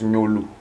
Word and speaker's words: Gnolou: Comment on le prononce? J'ai souvent du mal. Ça se prononce Nyolu.